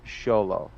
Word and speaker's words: Xolo: and if I remember correctly he said it's pronounced sholo yeah which makes sense because uh so she